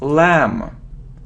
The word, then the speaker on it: lamb: it isn't lamp no we don't pronounce B so it's lamb lamb next you see him